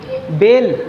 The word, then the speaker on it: bale: तो उस वर्ड का प्रोनाउंसिएशन उस बॉबिल के ओरिजिनल साउंड के जैसा होता है। जैसे ए, क्या है ए, तो यहाँ पर जब लिखा हुआ है BALE तो बताओ क्या पढ़ा जाएगा, ये बेल, क्या पढ़ा जाएगा, बेल।